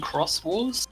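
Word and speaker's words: Xros Wars: In Digimon Cross Wars, spelled Xros. Yes. The X there is a K sound.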